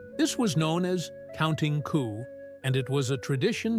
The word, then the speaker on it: coup: Coup, pronounced like coup, was a game of courage where warriors would get as close as possible to an enemy without killing them.